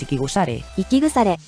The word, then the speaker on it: Ikigusare: El sonido de esta expresión es Ikigusare, aunque se escribe diferente al nombre oficial del grupo.